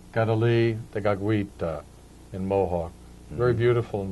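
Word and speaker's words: Kateri Tekakwitha: by various groups of people, but the correct pronunciation in Mohawk, Kadali Tagakwita. Gadali Dagagwita in Mohawk.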